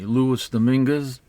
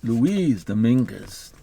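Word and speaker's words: Luis Dominguez: is a a cover by uh I always pronounce his name the the English way Louis Dominguez but that's not the way it should be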